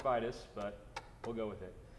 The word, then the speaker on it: Vitis: I know it's supposed to be pronounced Vitis, but we'll go with it.